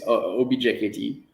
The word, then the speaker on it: objkt: that for me um like an object but yeah it's object objkt yeah um so you